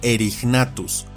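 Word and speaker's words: Erignathus: Y ahora un ejemplo del uso extendido de la G suave, como con este género, que se pronuncia y castellaniza como Erignatus.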